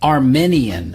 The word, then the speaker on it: Armenian: with i a n Armenian Armenian Armenian it's not correct to say Armenian you have to use the long e Armenian the country is Armenia